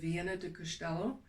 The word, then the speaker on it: Viana do Castelo: So I would start up in the northern area of Portugal with Viana do Castelo. It sounds like Vienna, like spelled like Austria, but it's not. It's V like Victor, I-A-N-O, do Castelo.